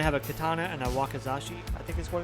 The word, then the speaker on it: wakizashi: Well, he's going to have a katana and a wakazashi, I think, is what it's called. block. Let's see. I want to make sure I pronounce this right. Wakizashi.